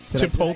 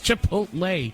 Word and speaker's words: Chipotle: NC we your digital connectors woooo W that talking alternative radio 24 hours a day chipot did I mispronounce that chakote from Star Trek chipot it's Chipotle you eat you know